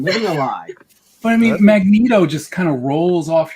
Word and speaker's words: Magneto: it is wilsa okay i pronounce it magneto with a short e y magnets magneto he pronounces it magneto